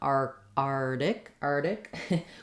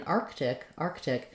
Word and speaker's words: Arctic: But in Arctic, in order to say that K sound, then we do also need to say the T sound, Arctic.